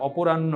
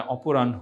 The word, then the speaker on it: অপরাহ্ন: মধ্যাহ্ন, সায়াহ্ন, উচ্চারণটা আমরা একটু লক্ষ্য রাখবো, এটা অপরাহ্ন নয়, এটা অপরাহ্ন।